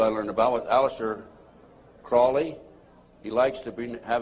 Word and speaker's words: Crowley: learned about with aleister crowley he likes to be have his name pronounced crowley to rhyme with holy and the satanist today